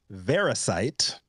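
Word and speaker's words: Variscite: 2022 a company called veracite rhymes with parasite I don't think that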